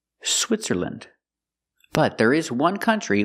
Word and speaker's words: Switzerland: Again, with countries, don't say land, say land. Again, Finland, Poland, Switzerland.